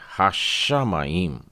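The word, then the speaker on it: השמים: श को 2 बार लिया है, हाशा माइम। ताओ में पताख लगा है हा, और उसके बाद में शाह बोलना है आपको, और वो भी कमाच के साथ में, थोड़ा प्रेशर दे के बोलना है, लेकिन उसी ही शाह को 2 बार बोलना है, आधा श और पूरा श आ की मात्रा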